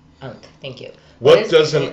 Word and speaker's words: Ankh: I'm going to spell it out because I don't want to butcher the way you pronounce it. A-N-H-K. Ankh. Ankh.